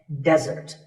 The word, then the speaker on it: desert: Here, the stress is on the first syllable, which is de, desert.